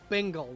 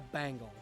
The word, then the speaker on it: Bengal: tiger this whole time it's a bengle not a bangle there's a difference it's not a bengle it's definitely a b it's a Bengal tiger it's spelled with an E it's not a Bengal